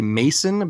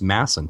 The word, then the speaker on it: Masson: Yeah, a lot of people say Mason, but it's actually two S's, so it's pronounced Masson. So yeah, Masson.